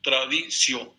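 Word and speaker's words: traditio: Se termina con T-I-O, tradicio, así se pronuncia.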